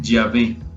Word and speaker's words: Yahvé: Estas 4 letras se pronuncian Yahvé.